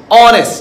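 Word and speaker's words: honest: অনেস্ট, এইচের উচ্চারণ হচ্ছে না, তাই আমরা এখানে কি লিখেছি?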